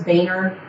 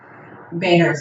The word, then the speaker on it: Boehner: The guy in Congress, Boehner.